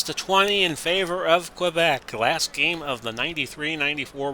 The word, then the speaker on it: Quebec: second period it's 2-1 quebec which rhymes with the great game show host alex trebek so a wide open